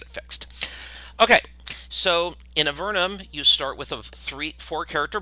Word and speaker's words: Avernum: We pronounce it Avernum, other people pronounce it Avernum, and such and such.